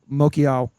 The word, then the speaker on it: Mokiao: I was giving him an extra syllable, extra vowel.